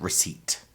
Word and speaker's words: receipt: So recipe and receipt. The P is silent.